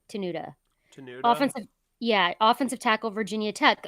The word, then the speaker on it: Tenuta: Luke Tanisha or tenuta I think it's pronounced tunusha but it's tenuta yeah offensive tackle Virginia